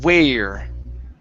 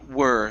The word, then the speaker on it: were: word were now here you're pronouncing the word as where okay it should be were so uh surf companies